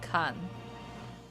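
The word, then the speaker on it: Khagan: By the way, they spell it Kagan, but they read it Kan.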